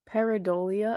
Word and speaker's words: pareidolia: How do you pronounce this, Lindsay? Pareidolia, I believe.